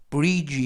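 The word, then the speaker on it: bridge: 뜻은 판사 라는 뜻이고요 br 은 이중 젊 뿌르 아이는 e 그리고 d 는 부금 이고요 쥐는 쥐 맨 끝에 있는 먹음 그래서 v2 브리지 e 라고 발음합니다 뜻은 다리 사람의 다리가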